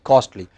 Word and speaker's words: costly: kill a project costly it's not coarsely it is costly but remember all of